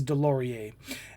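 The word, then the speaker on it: Deslauriers: Now the backstory of this is I'm going to I I wrote this out phonetically because it's like DeLorean's, but his name is Delorie.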